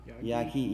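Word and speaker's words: Yaghi: I hope I'm pronouncing Y-A-G-H-I. Am I pronouncing the name right? Yagi. Yagi.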